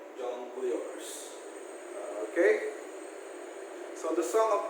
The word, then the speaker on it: jongleurs: And the church of jongleurs. Okay, nomadic entertainers who, aside from performing music, also perform tricks and acrobats. Okay, that is the jongleurs. It's like pronounced like jungle. Spelling is different. Jongleurs.